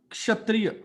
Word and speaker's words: क्षत्रिय: वो उसका है क्षत्रिय. उस श से पहले क की आवाज आती है. हाँ. क्षत्रिय नहीं है. उसकी शुरुआत क से होती है, हल्का क.